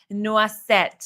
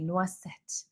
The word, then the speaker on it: Noisette: I have my eyes on Le Beige Noisette. I know I pronounced that incorrectly. Noisette.